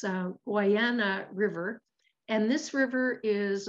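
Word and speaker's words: Guadiana: on the what hawaiian land i actually practiced pronouncing this it's uh guyana river and this river is about 700 kilometers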